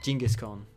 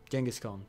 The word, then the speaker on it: Genghis Khan: descendant of Jenis Khan jingus Khan jangus Khan jingus Khan jangus Khan is probably more Swedish way of saying it jingus Khan is probably more English way anyway you'll write in